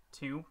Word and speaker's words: Temp: How do you pronounce that? Tump. Pronounce only. I say tump.